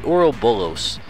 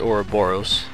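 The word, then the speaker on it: Ouroboros: here is the the oral bullos it's probably pronounced or boros like the snake that bites his tongue and a little bit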